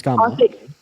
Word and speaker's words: Kamala: Her name's Kamala. Kamala. Is it the same? Yeah, but I think that's just my accent. Unfortunately, I've heard many British people pronounce her name correctly before.